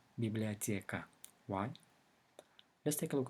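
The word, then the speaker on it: библиотека: Russian it is written as biblioteca however it's pronounced biblioteca why let's take a look at the stress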